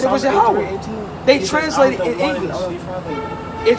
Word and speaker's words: Yahweh: In the Hebrew exactly tongue, how you say his name is Yahweh.